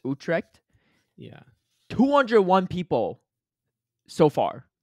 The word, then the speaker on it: Utrecht: I don't know how to pronounce it. I apologize. It's Utrecht. Utrecht.